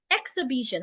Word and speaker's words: exhibition: So because we're stressing both, it means that the e here is also a stressed position, which means it should sound e instead of e. So if I want to pronounce this, it goes exhibition.